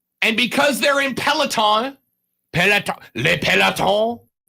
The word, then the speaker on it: le peloton: And because they're in peloton, le peloton, I believe is how you say it in French.